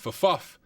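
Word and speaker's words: ffuf: So on this login screen, Big Beef said Fuff is the correct pronunciation.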